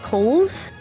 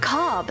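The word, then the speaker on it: Cobh: there's a place called Cove Cove so C BH I always pronounce at Port cob it's pronounced Co so K that's C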